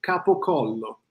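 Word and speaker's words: gabagool: They show me what the Gabagol is. It's capocollo in Italian. So someone came from Italy, said, I want the capocollo. Somebody else heard it, and it became Gabagol.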